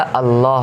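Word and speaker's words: الله: अब अल्लाह में पहला वाला लाम साइलेंट है एंड द सेकेंड लाम, उसके ऊपर आप देख रहे हैं तशदीद है। जब ये तशदीद इस तरह की होती तो एक लाम को दो बार पढ़ा जाता है, और यहाँ पे खड़ा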